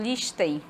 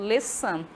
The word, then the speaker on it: listen: Observem que este verbo, ele tem a letra T muda. Eu não falo listen, eu falo listen.